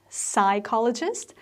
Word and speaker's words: psychologist: it do you say psychologist then you're absolutely right because p is silent y becomes i and ch is k so it's psychologist when